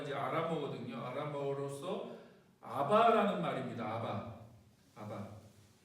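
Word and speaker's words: Abba: 아바. 네. 근데 굉장히 비슷하죠. 아빠, 아바. 굉장히 발음이 비슷합니다. 정확하게 발음하면 아바가 되는데, 우리나라 아빠하고도 굉장히 비슷하죠. 발음이.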